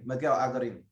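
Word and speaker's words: Miguel Algarín: Miguel Algarin.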